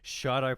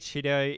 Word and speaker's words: Shido: Firstly, I just want to say thank you to this gentleman right here for teaching me how to say Shido properly. I was pronouncing it Shido yesterday, so my apologies for that.